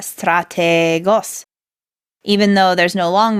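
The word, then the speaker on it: στρατηγός: It's pronounced strategos, and it means general, like the leader of an army. And one thing to notice for our listeners is, Bill, you lengthened out the eta, strategos, even though there's no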